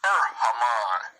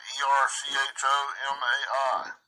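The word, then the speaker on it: ἔρχομαι: 2064, Erhamai. Erhamai, I think is the way to pronounce it. Erchomai.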